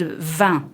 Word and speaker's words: vin: can't pronounce the word vin, for example, which is wine, which is quite handy if you are one of my friends. You want to, and vin is a nasal sound.